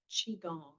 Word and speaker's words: Qigong: Qigong. Qi? Qigong. So the Q is a C? Qi, Yeah. or a Something like that.